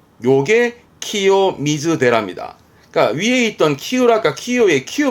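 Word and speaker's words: 清らか: 그게요, 카로 끝나게 되면 이거는 나 형용사랑을 의미하는 건데, 그러니까 이 형용사의 경우는 키요이, 맑은 거고, 이때 발음도 키요라까, 키요라까, 뭐랄까, 맑은 물, 키요라까나 미즈, 키요라까나 미즈, 또는 맑은 마음, 키요라까나 코코로처럼 쓰는 키요라까도 발음 챙기실 만한 부분이 있습니다.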